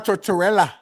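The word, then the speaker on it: Tortorella: John Tortella.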